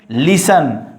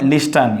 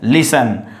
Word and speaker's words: listen: And next, you know, T will be hidden or silent, listen, not listen, you know, listen.